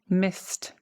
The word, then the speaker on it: missed: This one is missed, missed. Again, this, you don't engage the vocal cords, right? So it's got a T ending.